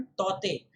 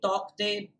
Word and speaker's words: Tauktae: तो ऐसा है ये शब्द तौते। अम, और यही सही होगा उसका उच्चारण, तौते, ना कि तौकते। भले ही उसके स्पेलिंग में जो है के हो, क्योंकि IMD ने ही ऐसा कहा है।